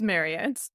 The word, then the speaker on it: Marriott: It is Marriott.